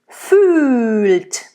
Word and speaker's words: fühlt: Fühlt. It's a nice closed Ü. There's an open Ü.